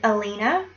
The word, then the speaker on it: Halina: this character's name is Alina and that is spelled h a l i n a it's polish for light and I'm pronouncing it in the French way um which H are